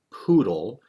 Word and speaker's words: PoodLL: in you might have heard about is called poodle it's spelled p 00 d ll and what it